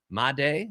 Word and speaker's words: Made: I was calling it Made because that's how it's spelled. Made is apparently how it's said.